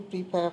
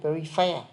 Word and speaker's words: prepare: Pờ chứ không phải phờ. Prepare. Prepare. Prepare. Prepare chứ không phải prefer.